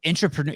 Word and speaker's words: intrapreneur: And one of the things I figured out, similar to the how did you say it, an intrapreneur? Intrapreneur. Am I pronouncing that right, Matt?